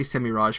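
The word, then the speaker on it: Semirhage: I'll say Semiraj for those who prefer the soft G.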